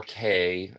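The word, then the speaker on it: Cay: store key um or K. Okay, I've had this conversation with locals and they pronounce it key, but they say we should pronounce it K because that's how it's spelled and that's how it should be pronounced.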